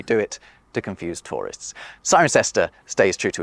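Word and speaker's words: Cirencester: cestors not a single one of which is pronounced like it's spell we do it to confuse tourists siren sester stays true to its roots but it is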